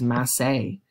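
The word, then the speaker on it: massé: know what this is a french word it's actually pronounced as massey a stroke okay so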